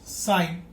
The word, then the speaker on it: sine: This is pronounced as sine. Don't pronounce it as sin. It will be pronounced as sine.